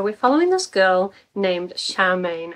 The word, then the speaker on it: Charmain: this girl named charmain I will say the way it's spell it has all the same letters as the word chairman and my brain just keeps reading it as chairman which is not helpful but basically at this